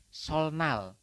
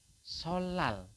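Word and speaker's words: 설날: l teman-eman maka anda akan membacanya adalah solal teman-teman jadi yang berubah adalah ninnya di sini ninnya itu berubah menjadi l teman-teman seperti itu ya Jadi dibacanya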